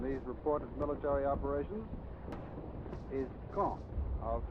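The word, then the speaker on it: Caen: of gravity in these reported military operations is kong i'll spell that c-a-e-n the big city at the base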